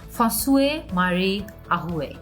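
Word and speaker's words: François-Marie Arouet: ফসুয়ে মারি আহুয়ে, এভাবে ওনার নামটা উচ্চারণ করা হয়ে থাকে।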